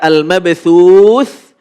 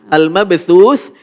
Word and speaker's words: al-mabthuth: Di sini ada al-mabthuth. Al-mabthuth. Di sini huruf apa? Tha. Huruf tha ini punya sifat hamas. Hamas itu apa namanya? Cara membacanya adalah ketika waqaf keluar nafas sedikit.